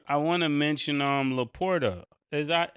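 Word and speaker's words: LaPorta: I want to I want to mention um Le Porter is that how you say his name leapor yeah he he did he's he's playing he's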